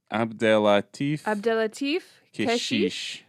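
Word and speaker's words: Abdellatif Kechiche: Abdelatif Keshish.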